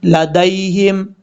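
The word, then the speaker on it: لديهم: اس کے بعد ہے لدیہم، دال کے بعد جو یا ہے اس یا کو لمبا نہیں کریں گے، دال یا زبر دئی، لدیہم، یہ یا لین ہے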